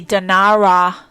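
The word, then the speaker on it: Denarau: year and checked into their hotel on the dinara i'm going to spell it d-e-n-a-r-a-u island which is west of the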